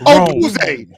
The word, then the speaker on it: Odunze: That's not how you say it. There's an N in there. You just got done trying to correct me and then say it wrong. Odunze.